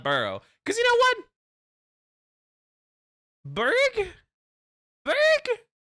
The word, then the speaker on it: Burgh: It's pronounced Berg.